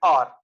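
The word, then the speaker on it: hour: means we say and r although it begins with h but here h is silent so it gives the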